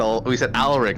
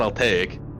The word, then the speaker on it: Alaric: No, we said Alaric, not Altaik.